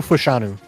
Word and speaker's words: Fashanu: You had, I don't even know how to say this, but Fashanu? Olu Fashanu.